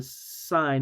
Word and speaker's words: sine: Even though it's written like sin, we don't say sin.